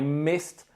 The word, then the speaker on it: missed: I missed the plane, which is spelt M-I-S-S-E-D, but the pronunciation is like it was spelt M-I-S-T.